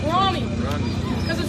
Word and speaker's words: Rami: It's pronounced Rami.